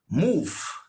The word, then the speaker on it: move: Though it ends with the V-E sound, this guy has this sound. If. So you pronounce it like move. Do you get it? Move. Move.